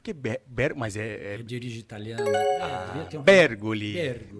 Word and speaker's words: Bergoli: Bergoli. O Papa falecido era Bergoglio. Bem próximo. Porque a questão de pronunciar o sobrenome é questão de origem.